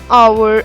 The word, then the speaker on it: hour: Another example, an hour ago. The same thing is happening here also. H is silent, O sound is coming, and that's why we have used and with it.